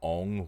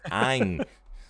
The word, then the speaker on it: Ang: See if I see that little girl in it call him Ong one more time. It's like his name's Oh Ang. man. Ang.